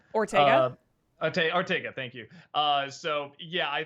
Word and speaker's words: Ortega: Ortega, thank you.